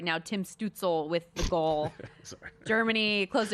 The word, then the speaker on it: Stützle: Tim Stützle with the goal.